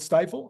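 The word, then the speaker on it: Stifel: I didn't have time to look up this stiffle stdel stifle yeah stifle is it stifle okay that's a pretty funny name yeah I was figuring they would have pronounced it stiffle because stifle would seem like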